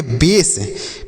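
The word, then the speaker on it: base: बी ए एस ई, इसे हम पढ़ेंगे बेस।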